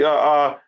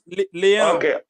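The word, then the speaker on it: Leão: Leo. How do you say it again? Leon.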